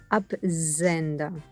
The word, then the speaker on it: Absender: why we have their ap zender and we have the er at the end which gets pronounced like an r they are appenda the absenta means sender